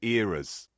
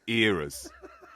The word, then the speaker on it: eras: pronunciation of the word, Simon is saying eras tour, the eras, as in moments in time through history. As opposed to mistakes.